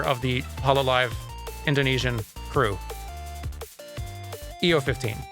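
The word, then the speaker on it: Iofi: EO15, that's how you say it.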